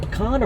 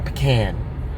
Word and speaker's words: pecan: Is it pecan or pecan? How do you say it? Depends on where you're from.